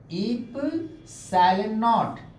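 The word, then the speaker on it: ε₀: Coulomb's ने, 1/4 पाई, और ये है इप्सिलॉन नॉट। प्रोनाउंसिएशन क्या है? इप्सिलॉन, इप्सिलॉन नॉट, है ना।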